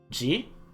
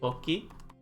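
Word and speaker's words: 時: For example, a different reading for time would be ji. Actually, let me write this out here just so it's here. Toki.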